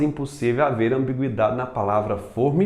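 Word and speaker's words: fôrma: não gerar ambiguidade mas pra palavra forma assim pronunciada de forma fechada eu posso colocar o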